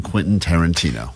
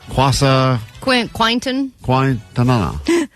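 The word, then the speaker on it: Quentin Tarantino: Vanessa has never seen a Quinton Tarantino movie and she's never successfully pronounced Quinton Tarantino. That's true. All week as she's been talking about this prize we have. She's been saying quasa quaintonqanana. So quint.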